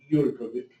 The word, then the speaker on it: Jurkovic: Anyway, so I have the privilege to introduce our final poet, Jurkovic. Did I say it right? Yep. Excellent.